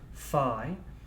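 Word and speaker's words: phi: familiar with that symbol that's pronounced fi and an unknown function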